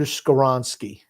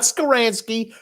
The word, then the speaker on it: Skoronski: is his name again Peter skoronski I don't want to mispronounce it skaransky it's not skaransky squarovski I just said